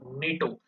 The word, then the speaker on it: NATO: Now, how do you pronounce NATO? Do you pronounce it NATO? No, you pronounce it as a single word, NATO.